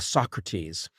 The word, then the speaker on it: Socrates: vowel changes it goes then to Socrates which is the same pronunciation it has in modern Greek a uh a Socrates and they soes what'